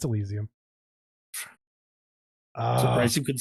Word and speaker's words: Elysium: No, it's Elysium.